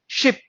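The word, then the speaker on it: sheep: इसको हम पढ़ते हैं शीप और इसको हम पढ़ते हैं शिप।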